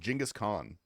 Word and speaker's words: Genghis Khan: It's pronounced Genghis Khan.